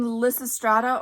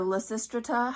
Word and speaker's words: Lysistrata: else by Plato and Melissa strata or lysistrata however you pronounce it I've heard it both ways which is by Aristophanes